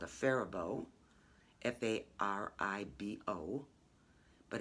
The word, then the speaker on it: Faribault: from what's called a faribault f-a-r-i-b-o but it's from the faribault woolen mills in faribault minnesota and that faribault is spelled like the french faribault but i think when